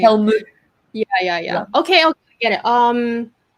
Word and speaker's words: Helmut: Derek Hemulang. Oh, Helm. Yeah, I know it's so hard to Helmut. pronounce his name. Helmut.